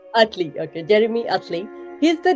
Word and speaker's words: Utley: I hope I'm pronouncing your last name right. You're doing great. It's Utley. Utley, okay, Jeremy Utley.